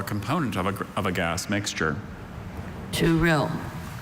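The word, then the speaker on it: tourill: To rill. Are there any alternate pronunciations? There's just to rill.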